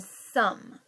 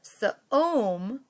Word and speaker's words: some: But this time, did the silent E make the vowel O in the middle long? It's not ka-om or sa-om.